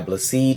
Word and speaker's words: Bless: My name is Blessed. Yes, it is spelled bless, but it's pronounced blessed.